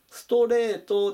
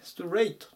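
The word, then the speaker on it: straight: に注意ですねストレートではなくてストレイトっていう風に発音します真っすぐにとか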